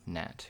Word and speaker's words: Gnat: Oh, it's Gnorm Nat, because there's a silent G in Nat.